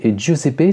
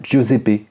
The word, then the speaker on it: Giuseppe: Je suis en train de regarder, mais Giuseppe, c'est un prénom italien qui se prononce plutôt Giuseppe que Giuseppe.